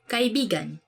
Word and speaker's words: kaibigan: this word Cuz Like You have to say it like this kaibigan Kaibigan buse kaibigan means friend but when you twist it a bit and say it like this kaibigan Kaibigan that's kind It's not really a natural way of saying it but it actually means lover so like when you